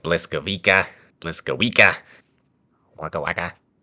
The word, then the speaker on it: Błyskawica: But one helpful tip to remember is that you see the L, it's not actually an L, it has a cross through it. And you actually pronounce it like you would a W. Google, it is your friend. So keep that in mind. It's not an L, it's a W.